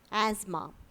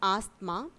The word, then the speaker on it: asthma: the eighth word is asthma it is not asked ma asthma asthma is a respiratory disease that causes difficulty in breathing so the right way of potentiation is asthma and not asked mom the next word is